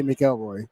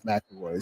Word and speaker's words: McElroy: because I know McElroy, I say McElroy, but it is McElroy.